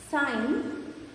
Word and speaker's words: sign: Next, silent G. Sign, design, gnome. In these words, G is silent.